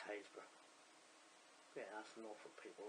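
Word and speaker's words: Happisburgh: For our American friends, it's spelled Happysburg, but it's Haysborough.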